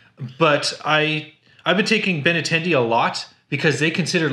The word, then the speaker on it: Benintendi: Benintendi.